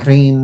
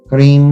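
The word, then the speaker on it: ह्रीं: Hrim, Hrim, Hrim, Hrim, Hrim. But this is one syllable.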